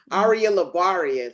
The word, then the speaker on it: Aria LaBaria: guess now do i spell it do i pronounce it ariah arya arya arya labaria ladies and gentlemen see i said it right